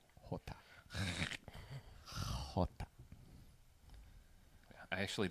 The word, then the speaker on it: jota: Jota. Jota. I actually like my name better in Spanish because it's Bejota, and that sounds cool. Yeah, sorry, Hota's J, not H.